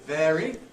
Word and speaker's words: vary: of vary word finally that's what you have in variation before a vow but when it gets the stress through the effect of the ity suffix T suffix what happens you get I for it variety spelling of